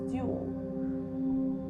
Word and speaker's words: ULL: The slow lane strategy is rooted in uncontrollable limited leverage, or ULL, pronounced dual.